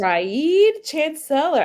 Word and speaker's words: Reed Chancellor: Raid Chancellor. I didn't know that's how you pronounce Reed Chancellor's name.